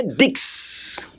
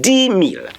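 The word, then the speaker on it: dix mille: it's for ten thousand we don't say dicks you don't say Dick's Meal please he said D meal he said what D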